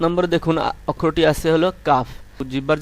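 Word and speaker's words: كاف: 5 নম্বরে দেখুন অক্ষরটি আছে হলো কাফ।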